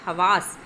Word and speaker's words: حواس: بہتر ہو جاتی ہے۔ حواس، ہے اور واو دونوں پہ زبر آ جائے گی۔ مختل، گڑبڑ جس کا